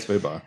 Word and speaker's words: Fabok: Swamp Thing Winter Special #1, written by Tom King, art by Jason Fabak. Is it Fabak or Fabuk? I think it's Fabok. Fabak, that's right. Fabok.